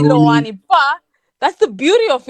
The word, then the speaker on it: LOANI: from herself you know the way she pronounced it Loney so I think what happened with this they always say I pronounce it wrong most of them some people you sayani they say Lani but that's the beauty